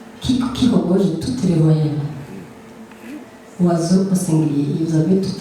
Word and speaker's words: oiseau: Essayez de prononcer le mot oiseau. Il est constitué de O, de I, de S, de E, de A, de U et de X. Est-ce que dans la prononciation, vous sentez son mot?